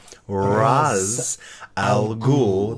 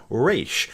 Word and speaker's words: Ra's al Ghul: he is an Arab in Arabic it is pronounced Ra's al Ghul the head of the demon now that is not to say race is incorrect because Ra's